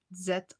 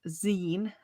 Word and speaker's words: zine: Uh the Zen Z I N E is short for magazine. So that is why it's pronounced Zen and not Z.